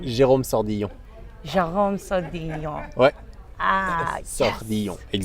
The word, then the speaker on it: Sordillon: Jerome Sordillon.